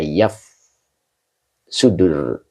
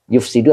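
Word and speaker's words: يُفْسِدُ: Makanya di sini dijelaskan wahiya fil asli ma yaf sudur ma yafsuduz zara'a. Yufsidu apa yafsudu ya kemarin saya bacanya ya. Yufsidu ya karena ini masjid satu ya.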